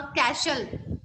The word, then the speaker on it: castle: Silent in this word कैसल? CASTLE कैसल में silent letter क्या है? Ma'am, T. T. Yes, very good. T silent है.